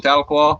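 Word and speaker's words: Tahlequah: oh my mercy and if you can pronounce chickasha and then call him tattlecoil you know you're a native hokey right so ninapan oh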